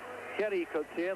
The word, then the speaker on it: Gerrie Coetzee: in the fight and there's kenny cooks here they pronounce that in the dutch afrikaans and has had to